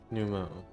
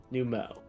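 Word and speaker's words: Nu Mou: to make their home oh finally we actually get num Mo set aloud so we can know the exact pronunciation numo numo though they have long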